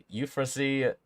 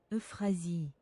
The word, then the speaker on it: Euphrasie: Euphrasie, Euphrasie. How do you say that name? Okay, how do you pronounce this? Okay, that's in French. French translate. Euphrasie. Euphrasie. Okay, it had an oof in there.